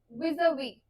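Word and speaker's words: vis-à-vis: हैं इस वर्ड की जिसे हम बोलते हैं विवी ठीक इसे वि नहीं बोलते मतलब जैसे रिगार्ड टू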